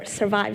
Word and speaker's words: SVRVIVE: A little quick info about my VR studio, which is called SVRVIVE Studios, or SVRVIVE Studios actually, how it's pronounced.